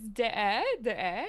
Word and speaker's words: Deshaies: It is Deshaies, and can we all give that a try? Let's give that a try. Dave, you first. Deshaies?